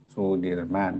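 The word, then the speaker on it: Soedirman: Ada yang kadang-kadang kalau kita dulu biasanya ejaan lama ya Soe Dirman dibaca Sudirman tulisannya Soe tapi bacaannya su umpamanya begitu walaupun sekarang semua sudah enggak ada yang begituan.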